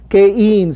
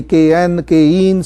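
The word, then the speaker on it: cayenne: Let's move into caine. Some people pronounce it differently. Caine.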